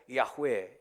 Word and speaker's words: 야웨: 말하고 있는 거예요 근데 원래 히브리어에서 발음은 자음 밖에 없어요 히브리어에서 yhwh 이게 자음에 그니까 야웨 이예요 그러니까 야웨 야회 야웨